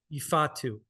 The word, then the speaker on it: Ifeatu: Ifatu. Ifeatu. I'm Yeah, gonna yeah, work yeah. on it. You're good, I'm like though. the pronunciation guy.